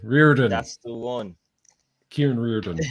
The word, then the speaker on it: Riordan: Riordan. Riordan.